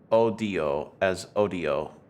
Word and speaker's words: Odio: You have to pronounce them as odio, the Spanish word for hatred.